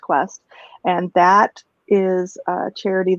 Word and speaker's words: KWST: It's KWST, but it's pronounced Quest.